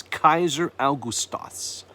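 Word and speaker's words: Καῖσαρ Αὔγουστος: in the Christmas story if you're pronouncing his name in The Coin Greek it's Kaiser austos Kaiser austos Caesar Augustus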